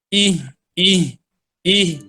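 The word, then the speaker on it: إهدنا: Sini sering terjadi kesalahan bacanya, yaitu kurang jelas dalam mengeluarkan huruf H. Ih, ih, ih. I-nya kadang nggak jelas, kadang H-nya yang nggak jelas. Jadi dua-duanya harus jelas. Ih, H-nya, H-nya di dada, terasa di dada untuk pemula.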